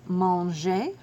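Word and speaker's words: mangent: Then we have manger, M-A-N-G-E-Z, and mange, M-A-N-G-E-N-T, and of course, E-N-T is silent.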